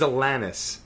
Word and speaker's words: Alanis: Her name is Alanis.